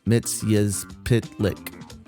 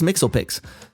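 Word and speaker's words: Mxyzptlk: Fairly Odd Parents and Mr. Mixelplix, pronounced Mitzjezpitlik, in Superman, the animated series. He reprised his role as, I thought it was Mixelpix. He reprised his role as Mitzjezpitlik, that's how it's spelled out phonetically, in Lego Batman 3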